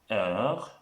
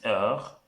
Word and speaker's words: heure: What starts next is time, which is heure. It starts with an H. If you remember in the alphabet, we say H is silent in the French language.